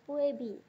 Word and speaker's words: PUEBI: umum ejaan bahasa Indonesia atau puebi biasanya dibaca Feby kalau zaman dulu atau